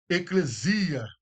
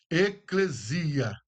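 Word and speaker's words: ἐκκλησία: A palavra igreja no grego é eclesia. Ecclesia, que é congregação ou comunidade de crentes. Esse é o significado de igreja. A pronúncia eu coloquei aí, ó, eclesia, literalmente convocação ou reunião de pessoas chamadas para um propósito.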